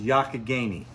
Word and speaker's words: Youghiogheny: do you pronounce the river the river is pronounced yakigani it means river that flows in a roundabout